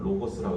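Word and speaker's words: λόγος: 원래 발음은 로고스라고 해요.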